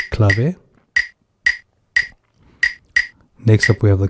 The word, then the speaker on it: clave: It's spelled as clave if you're English speaking, but the correct pronunciation is clave.